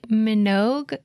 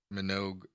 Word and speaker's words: Minogue: and I'm gonna see how it says Minogue it has a hard G it does but she's